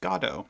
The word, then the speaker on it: Godot: your dough I'm gonna say good oh because I've always had it that way even though the filmed version of the play that I watched after this uh used godo as the way they pronounced it um I had